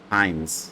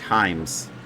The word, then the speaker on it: Heimes: Heimes. It's like dimes with an h. Heimes.